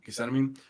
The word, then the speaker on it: Gethsemane: How do you pronounce it? Gethsemane.